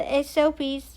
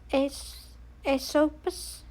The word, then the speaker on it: Asopus: grown banks of the Asopies of No, that's not how you pronounce that. I don't even know why I said it like that. Asopus Asopus the Achons sent Tidius